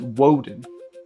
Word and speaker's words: Odin: Now, I spell the name O D, I, N. But, I pronounce it Woden. Why? Because I'm tapping into the ancient Germanic pronunciation of the Norse god we know as Odin.